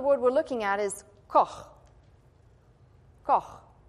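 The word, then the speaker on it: כֹּחַ: But this particular word we're looking at is koch. Koch. It's a hard thing to pronounce.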